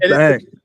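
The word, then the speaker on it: bhang: It's called bang. It's a psychedelic drink. That's still pretty funny. Yeah, it's bang is how it's pronounced.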